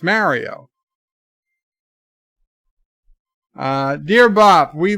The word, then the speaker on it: Mario: it's not too bad they are all pronouncing it wrong that's all I can say Mario Mario Mario it's Mario dear Bob we like